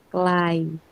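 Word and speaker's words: ไกล: Bacanya kelai.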